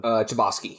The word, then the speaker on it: Chbosky: Chbosky, yes.